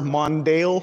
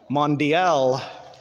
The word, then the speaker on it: Mondial: How do you pronounce it proper? Mondale? Mondial? Mondial.